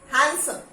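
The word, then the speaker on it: handsome: Okay, हैंडसम, हैंडसम, he looks very हैंडसम, नो, हैंडसम, हैंडसम।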